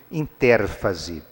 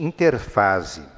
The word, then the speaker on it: interfase: ou vocês vão encontrar alguns livros de biologia escrito interérfase, mas o nome pode se pronunciar mais corretamente interfase.